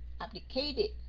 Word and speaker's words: abdicated: Right, đúng rồi, âm cuối nó sẽ là âm T, phải không? And then mình sẽ đọc là it. Abdicated.